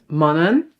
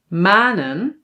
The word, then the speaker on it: manen: We must pronounce this as mannen, redden, zonnen. But no no no no no, that's not correct. We pronounce these words as manen reden and zonen. So now it is long.